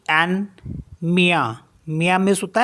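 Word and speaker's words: mien: मीस होता है योस एम आई ई एन मिया मिया मीस होता है माइन आई एन डी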